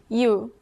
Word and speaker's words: 유: When you add another short stroke, a Y sound is added to the front of these sounds. Add another short stroke to O and it becomes 요. 요, 요, Likewise, take U and add another short stroke and it becomes 유.